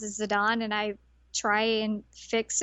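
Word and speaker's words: Zidane: I've always said his name is Zadane and then I found out that they pronounce it as Zidon and I try and fix it, but sometimes it comes out wrong.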